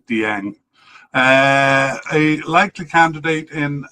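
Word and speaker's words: Dieng: We have a definite candidate in Aliu Dyang and uh the announcer in the cup called it like one syllable Jang. Um there I tend to say like Dang uh a likely candidate in um Mohamad Chimera.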